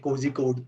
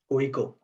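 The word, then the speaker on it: Kozhikode: first question will be how do you pronounce the cozy code cozy code but it is not actually cozy code you basically see it as kohiko right so yeah like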